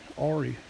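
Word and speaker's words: Auri: have only been two others Suki easy and Ori it's spelled a-u-r-i we got as a puppy golden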